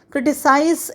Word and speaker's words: criticize: of these words so criticize ends with i z e and it sounds like in a size criticize and criticism it has i s sound like uh the word hi as his